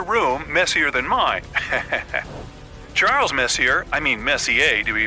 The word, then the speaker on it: Messier: well young lady the m stands for Messier pronounce Messier not Messier as in is your room messier than mine Charles Messier I mean Messier to be precise was a